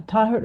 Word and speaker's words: Taher: Uh Tahert over over to you. Thank you Suzanne and yeah you're close almost there with my pronunciation is Taher in Taher is in Arabic.